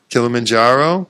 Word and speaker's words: Kilimanjaro: Did I pronounce that right? Yeah. Kilimanjaro.